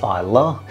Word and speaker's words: Islay: Nicknamed the whiskey island, Isa is spelled I sleigh, but it's pronounced Isa.